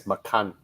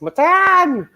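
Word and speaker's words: Macan: for for tiger yeah but i believe they pronounce it as makan they they i believe they refuse to pronounce it as matan so yeah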